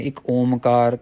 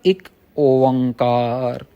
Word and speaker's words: एक ओंकार: कई लोग कहते हैं एक ओमकार कई लोग कहते हैं इ ओमकार यह थोड़ा गलत उच्चारण है सही उच्चारण है एक ओंकार एक ओंकार एक ओंकार गुरु नानक